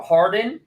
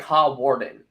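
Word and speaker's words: Hawarden: it's important it's it's it's different than it's pronounced it's howarden or Harden but it looks like hot Warden but so like yeah yeah American people would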